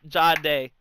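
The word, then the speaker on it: Jahdae: butcher his name every time I try and Gade? say it. Huh? Gade? Sure. The cornerback. That's how else do you pronounce it?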